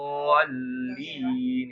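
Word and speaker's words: ولا الضالين: Itu dibacanya panjang, bo-nya 6 harokat ya. Waladhdallin. Waladdallin gitu ya. Bo-nya panjang ya.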